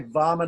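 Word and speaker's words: Vāmana: mana am i right we don't know what wom'n avatar womman avatar Washu daiva we don't say that we say Vaman avatar vasudeva very pronounced z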